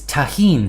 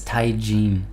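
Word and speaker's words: tahini: a dessert right um it's tahen says someone and then someone else says it's taien um and then someone else says yeah it's tahin from the Spanish pronunciation oh for the so I guess it depends on whether you want to do the Spanish pronunciation or or the American pronunciation okay that's fine we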